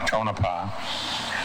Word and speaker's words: Tonopah: Tonopah.